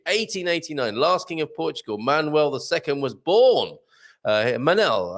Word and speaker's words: Manuel: last king of portugal manuel ii was born uh manel i think it's pronounced mannell more so than manuel isn't it manuel mannell he came